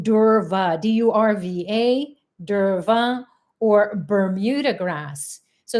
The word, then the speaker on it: durva: it is fine it's also called durva d-u-r-v-a derva or bermuda grass so it's fine and it's